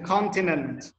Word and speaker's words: continent: Nguyễn Hương Giang mà từ continent. Continent. Trọng âm tới đầu nha.